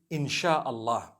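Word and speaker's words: Insya Allah: They pronounce the S-Y the way we pronounce S-H. So they can write it how they want, for as long as when people read it, they read it INSHAALLAH.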